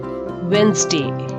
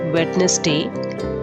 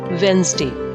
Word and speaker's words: Wednesday: call it it's wednesday wednesday not wetness day wednesday d is silent and s is pronounced as wednesday next word is february